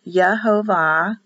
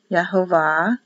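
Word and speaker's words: יהוה: So this is the abbreviation of the word Yehovah, pronounced Yehovah, Yehovah. And the Hebrew people would see Yehovah. In fact, they wouldn't even do the V, because this is actually an O.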